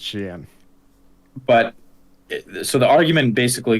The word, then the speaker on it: Shein: Well, I did see an interesting argument about like Shein. That's how they said it was pronounced. You'd think it's pronounced Shein, but apparently because it's Chinese, it's Shein.